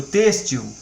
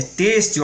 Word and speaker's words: têxtil: Útil, amável, nível, têxtil. É têxtil a pronúncia e não têxtil, gente.